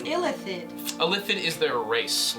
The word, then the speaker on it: illithid: neophthalate the methylene neothalid that's how i think it's pronounced no it's illithid a lipid is their